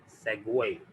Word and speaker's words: segue: इसका सही प्रोनाउंसिएशन क्या है, सेगवे, जैसे लिखा हो सेगवे, सेगवे।